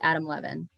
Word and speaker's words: Adam Levin: I pronounced your name wrong. It's Adam Levin.